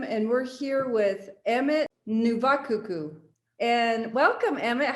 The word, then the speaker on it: Navakuku: love your last name i want you to pronounce it and tell me what it means okay um my name is emmett novankuka my last name means snow feet or it